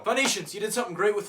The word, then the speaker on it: Phoenicians: people pronounce things wrong phoenicians you did something great with phonetics absolutely you know what Phoenicians that pH at the beginning of your name did you really just not like F or what I don't know if